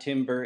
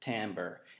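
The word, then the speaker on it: timbre: that's how you pronounce it everyone it's not Timber it's pronounced tamber and I should uh I should note that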